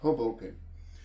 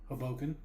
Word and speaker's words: Hoboken: Hoboken. That's what I said. Haboken. If you want to butcher it, you could say it that way. Just sounds like it sounds like you're saying it wrong, even when you're saying it right.